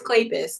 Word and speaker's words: Kleypas: Spell it. Klapa. Spell Clay- it. Kleypas. What did you say, Katrina? It's Kleypas.